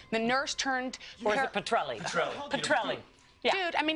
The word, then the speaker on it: Petrelli: reboot and you might remember him from Peter peterel the nurse turned Petrelli Petrelli dude I mean how many times can I mispronounce no it's it's it's easy it's easy